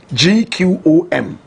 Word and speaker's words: gqom: big fan of Boom correct pronunciation hello gqom they say it with a click of the tongue Jerusalem is you know